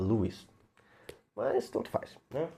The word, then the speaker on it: Lewis: Lewis ou CS Lewis que eu descobri que a pronúncia correta é Lis mas tanto faz né